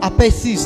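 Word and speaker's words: ἀπειθής: O TH, acho que a Linoca está aí, sabe, né? No inglês, o TH se pronuncia como S, né? Por exemplo, I think. Então é assim que é pronunciado assim no grego. Então, apeisis, né?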